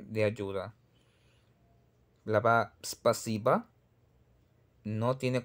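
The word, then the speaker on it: спасибо: Tenemos, por ejemplo, la palabra spasiba. Spasiba son tres sílabas que contamos. Spa, si, ba. Spa, si, ba. Spasiba. Spasiba. Y no es espasiba.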